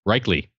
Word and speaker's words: Reichly: Pronounced like Third Reich and Robert Lee. Reichly.